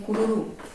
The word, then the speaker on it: cururu: Por que a letrinha R faz r? Porque é o som fraco. É a letra R sozinha aqui, ó, entre duas vogais.